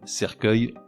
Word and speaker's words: cercueil: Je m'explique, avec une terminaison en E-U-I-L, orgueil se prononcerait orgueil, et cercueil donnerait cercueil. Ces 5 mots sont accueil, recueil, écueil, cercueil, orgueil.